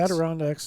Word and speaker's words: Adirondacks: Adirondacks? The Adirondacks are those Did I say it right?